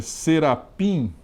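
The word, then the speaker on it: שרפים: O termo hebraico serafim, que é a pronúncia em hebraico, é serapim, né?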